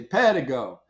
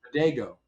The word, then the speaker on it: Pedego: I mean, in Europe, in Italy, they say Pedego. In other parts of Europe, they say Pedego.